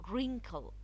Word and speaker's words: wrinkle: it rest rest sorry wrinkle wrinkle the are it followed doubt W so the W is silent wrench the are followed